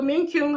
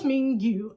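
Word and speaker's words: 민규: I keep saying Min-kyu because of the way his name is spelled. They show us Mingyu, and he's so sad because he keeps hearing the door open and close.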